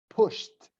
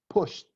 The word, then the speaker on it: pushed: but I pronounce T like push past dance is not push it but pushed pushed they push the shopping cart